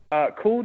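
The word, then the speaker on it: Kuld: And essentially, Cooled, it's spelled K-U-L-D, Creamery.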